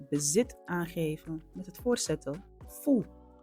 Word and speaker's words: fu: Ningil en dit is vandaag kijken we naar het bezit aangeven met het voorzetten vo. Vo is precies zoals je het uitspreekt. De U wordt als een OE klank uitgesproken. Oe.